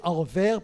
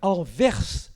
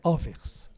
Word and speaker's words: Anvers: que vous appelez Anvers parce que vous ne prononcez pas le S de la fin. Mais pour ceux qui sont ici, je précise, il faut prononcer le S. C'est Anvers et pas Anvers. C'est pas Anvers et tout ou n'importe quoi, c'est Anvers.